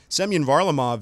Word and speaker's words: Semyon Varlamov: Semyon Varlamov is the Russian netminder for former Monsters head coach Jared Bednar in the Colorado Avalanche.